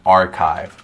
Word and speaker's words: archive: lot of data so that's an archive r chive perfect in a sentence so uh yeah so we're gonna go look in the archives uh to find the information um and again it's spelt ch but we say it k that's a good question